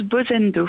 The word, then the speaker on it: Bozendo: Je le disais à l'instant avec vous, on va parler de Bozendo ou Bozendo, comment on prononce exactement? On prononce Bozendo.